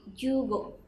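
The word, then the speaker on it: 十五: Contoh 15 itu adalah 10 dan 5. Jadi dibacanya menjadi jugo.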